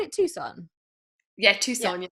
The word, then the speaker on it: Tucson: call it tucson yeah tucson it's spelt like tuxen isn't it but it's tucson so like you've gone